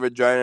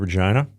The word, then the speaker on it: Regina: got to give Regina another shot, man. It's the city that rhymes with fun.